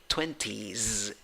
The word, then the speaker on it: twenties: e so to speak and even though the spelling finishes in s the pronunciation finishes in z okay twenties twenties good number five